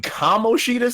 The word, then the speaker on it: Kamoshida: forgot Don't about take the bait, Kimoshina. Jeremy. Take You it. just forgot all about Kimoshina, dog. You mean Kamoshida? Second? You can't even pronounce his name.